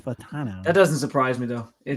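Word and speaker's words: Fautanu: Fatanu. Fatanu. Fatano. Yeah. It's Fatano.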